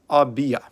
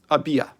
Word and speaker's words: Abiyah: They are written acrostically as Abaya, pronounced Abiyah. Abiyah.